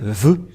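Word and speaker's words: ו: sa valeur lorsqu'on écrit c'est tout en haut lorsqu'on écrit ça donne ve voilà on voit bien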